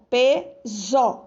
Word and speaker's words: peso: A mesma coisa em peso, ó, peso, zo, tem som de Z.